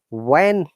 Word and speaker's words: when: When and WHEN, H is silent.